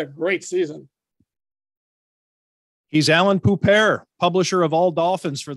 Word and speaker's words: Poupart: Poupart. Yes. Poupart. It rhymes with Boobar. Exactly. Babar the elephant.